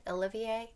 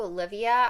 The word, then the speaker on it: Olivie: say her name right Olivier it's just so close to Olivia I always just want to say Olivia but I know it's I know that's not right but anyways I am